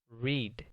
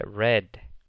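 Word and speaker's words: read: diferente en el presente leer se dice reed en el pasado se dice red como el color la siguiente es you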